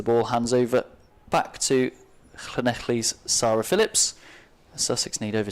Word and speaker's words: Llanelli: 9 as the ball hands over back to Llanelli's Sarah Phillips. Sussex need over 10 and over, Aled. And not bad pronunciation there for an Englishman, Llanelli.